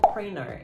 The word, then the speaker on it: printer: Que é uma printer ou printer. Americanos pronunciam como printer, eles não pronunciam a letra T.